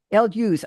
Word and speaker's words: Elwes: I never know whether it's Elwes. I don't know how to pronounce this. Elvis. Hughes. El Hughes. Oh, thank you.